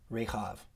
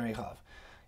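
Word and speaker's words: רכב: way, Jonadab, son of Rechab. Or how would you say it? in Hebrew, I'll show you the Hebrew here. It's Yonadav ben Rechav. That's how you say it in Hebrew, Yonadav ben Rechav.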